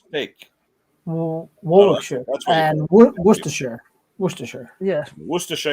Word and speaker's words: Worcestershire: Worcestershire. It's pronounced the same as the Worcester in Massachusetts.